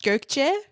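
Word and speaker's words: Gökçe: It's pronounced Gerch, but, like exactly what you said, and are perfect, and I'm just super happy to be here, and I love your energy.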